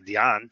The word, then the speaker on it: Deon: my correct pants and the pronunciation of my name is not Dean it's actually Deon and only Hispanics pronounce it that way so it'd be pretty